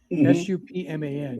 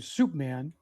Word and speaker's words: Supman: I mean, by the way, his real name was Milton Supman, Supman. Yeah. And interestingly, his nickname changed because people started calling him Soup Man, because they mispronounced it, or Soup Bone.